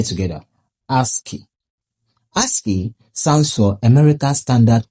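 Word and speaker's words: ASCII: H the answer is a S c i pronounced as ASKI. Let's say together ASKI.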